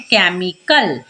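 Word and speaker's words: chemical: डब्लू के बाद तो यहां पर अगर आप ध्यान दें तो एच जो है वह सी के बाद है यानी कि केमिकल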